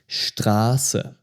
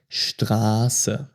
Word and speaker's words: Straße: It's also called the sharp S, and in most cases it sounds like a double S. For example, Straße, Straße, street. And this is a special type of S sound, Straße.